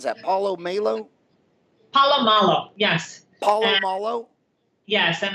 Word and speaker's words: Paulo Malo: How do you pronounce that? Paulo Malo? Paulo Malo, yes.